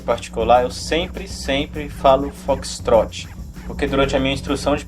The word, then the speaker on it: Foxtrot: caso em particular pessoal apesar de na regra o correto se a pronúncia foxtrot não é raro você ouve pela família e brasil afora pessoa pronunciar apenas a primeira parte fox assim teoricamente isso não é correto mas muitas vezes os controladores e os pilotos também utilizam essa versão mais curta para digamos agilizar ainda